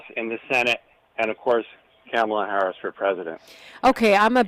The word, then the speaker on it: Kamala: the house in the Senate and of course camela Harris for president okay I'mma bust you out to comma rhymes with mamala K but look um n because